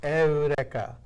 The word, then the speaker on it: Eureka: Erica 7 high evolution Erica is spelled like Eureka EU are e ka was pronounced Erica so reckless she's this